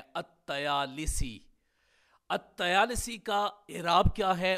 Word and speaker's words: الطیالسی: ساتھ۔ تو اس کا پورا اعراب اس طرح ہوگا، الطیالسی لام اور سین کے کسرہ کے ساتھ ہو جائے گا اور تا اور یا کے فتح کے ساتھ ہو جائے گا، تو اس کا تلفظ ہوگا الطیالسی۔ اب ہم یہ جاننے